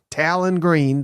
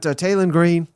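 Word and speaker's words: Taylen Green: potentially elite quarterback in Talon Talon Green depending on where you live. You know, you pronounce that differently apparently, but Tailon Green, you know, I I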